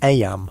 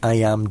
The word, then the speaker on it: Eyam: It's now the summer of 1665, and we find ourselves in Eyam, a small village nestled in the picturesque hills of Derbyshire, England. Eyam, is pronounced just like Eam.